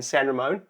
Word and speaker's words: San Ramon: Devin, father and son chiropractic team, amazing practice here in San Ramon. Yep. Did I pronounce that correctly?